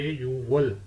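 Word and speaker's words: 유월: छठा महीना जो है छह को सिनो कोरियन काउंटिंग में बोलते हैं युक लेकिन जब हम छठा महीना बोलेंगे तो युक नहीं बोलेंगे बोलेंगे यवल छठा महीना रवल सातवा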